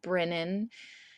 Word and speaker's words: Brynnan: So I'm putting them all out, and I got the knot down and they're all lowercase, and then I got to Brennan, which is spelled Brynnan, and there's a lowercase